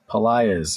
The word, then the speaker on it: Pelaez: I'm going to mispronounce. It's Pelaez? Pelaez. You were close. Pelaez.